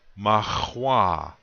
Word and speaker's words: mahwa: The accent is going to be on the second syllable. Now I'll say this word, mahwa.